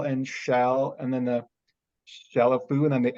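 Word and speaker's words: Chalifoux: music world had Alice Chalafou, because if you think about it, number one, the X is silent.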